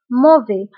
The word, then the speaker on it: mauvais: Alors, بالنسبة للموفي فنكتبها بS في آخر الكلمة ولكن لا ننطقها. نقول c'est tout à fait mauvais.